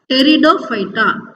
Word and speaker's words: Pteridophyta: Okay, here the P is silent here, so you have to pronounce this as Pteridophyta. You should start with T here.